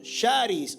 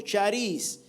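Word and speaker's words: χάρις: La palabra gracia es el concepto griego que se pronuncia como sharis o chararis. Eh, y esto traducido al español significa favor inmerecido, bondad que no depende de los méritos humanos, ¿verdad?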